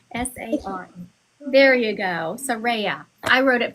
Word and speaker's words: Saraya: Soraya. Saraya. Oh, I should put a R-A-Y in there. That would make me say it correctly. S-A-R. There you go. Saraya.